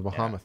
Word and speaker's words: Behemoth: okay there you go use the Behemoth guys or the bahouth depending on how you pronounce it incorrectly or correctly world of Final Fantasy